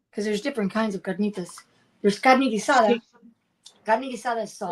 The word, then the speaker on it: carnitas: We had um how do you say can carolenas carnas? Carnitas.